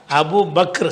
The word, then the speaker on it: அபூபக்கர்: அந்த சொல்லுடைய சரியான உச்சரிப்பு என்னன்னு கேட்டா அபூபக்கர் சரியா இது வந்து இந்த பேர் நிறைய பேர் இப்படி தப்பா சொல்றதுனால ஏன்னா அப்படி நார்வல்லாம் பாட்டு